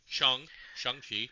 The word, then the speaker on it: Shang-Chi: was introducing new characters, Moon Knight, Shang-Chi, sorry, Shang-Chi, correct pronunciation, Moon Knight.